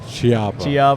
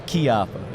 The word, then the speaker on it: Chiappa: You know, for years I said Chiappa. Chiappa. Yeah. Like Q.